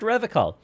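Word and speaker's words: Revachol: It's pronounced Revicol.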